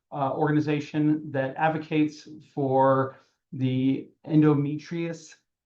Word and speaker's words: endometriosis: that advocates for the endometriosis. Did I just pronounce that right, Nicole? No, I did not. Um Endometriosis. Endometriosis. I almost had it right.